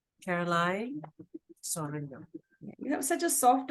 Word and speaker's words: Caroline: once again please if I mispronounced it I pronounce it correctly it's Caroline you have such a soft and sweet voice